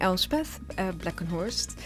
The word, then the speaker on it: Elsbeth Blekkenhorst: Yeah, I'm Elsbeth Blekkenhorst. That's the right pronunciation.